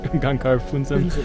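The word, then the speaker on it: Gangkar Puensum: Gangkar Phuntsem.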